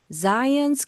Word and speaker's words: Zion: 우리가 시온이라고 하는 이 Zion, 이 발음에 유의하셔서 간단히 이 부분 노래를 해보겠습니다.